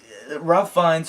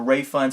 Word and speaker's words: Ralph Fiennes: name, but, you know, Ralph Fiennes or Ray Fiennes, I've heard that name being pronounced in different ways, but he's usually played more dramatic characters, very heavy characters.